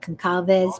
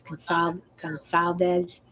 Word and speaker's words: Consalves: Where they have the C, but it's pronounced as an S. So it's Concalves. It looks like Concalves, but it's Consalves.